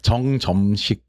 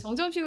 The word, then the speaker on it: 정점식: 발음이 정점식.